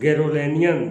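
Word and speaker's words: Garoghlanian: No member of द गैरोलेनियन, देखिए गैरोलोनियन, इसमें जीएच को साइलेंट कर देंगे तो आ जाएगा गैरोलोनियन family could be a thief.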